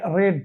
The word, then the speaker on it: read: মে বি রিড রেড, এখানে রিড উচ্চারণ, এখানে একই স্পেলিং হলেও এখানে কি হয়ে যাবে, থার্ড ফর্মের ভার্বের রেড, this book may বি রেড, হি থাকলে বাই হিম, বোঝা যাচ্ছে?